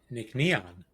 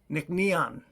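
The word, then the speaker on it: Nc'nean: They have a pronunciation for you. It is Nickon. Nick Neon. Nickneon.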